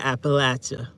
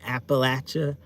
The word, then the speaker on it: Appalachia: You want to hear Appalachia again? That's how you say it, Appalachia. Hanging out in Appalachia, Appalachian Mountains, Appalachia.